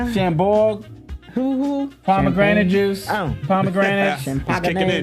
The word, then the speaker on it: Chambord: These are the holiday blackberry cocktails, and it's Chardon, or how do you pronounce it? Chambord.